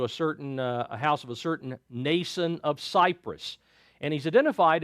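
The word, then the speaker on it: Mnason: M generally in this case is silent, so it would be Nason instead of Manason. They brought him to a house of a certain Nason of Cyprus, and he's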